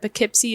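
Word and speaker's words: Poughkeepsie: on the East Coast, I think that Pikipsy is spelled P O U G H K E E P S I E or something like that. It's not intuitive.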